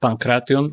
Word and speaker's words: pankration: fighter of modern days facing the champion of Pankration? Real quick, it's pronounced Pankration or Pankration.